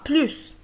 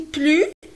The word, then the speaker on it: plus: Le S de plus ne se prononce plus si nous avons un adverbe ou bien un adjectif.